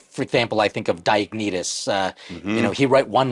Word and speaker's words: Diognetus: By the way, I just want to let everybody know, I don't even know how to pronounce the name. Is that correct, Diognetus?